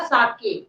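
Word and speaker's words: sake: है, ठीक है ना, तो इसका जो प्रोनाउंसिएशन होगा वो होगा साके, ठीक है।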